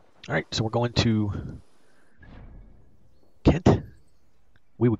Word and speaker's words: Kent: Alright, so we're going to Kent. We would call it Cent, but that's because we have a soft G, not the hard G.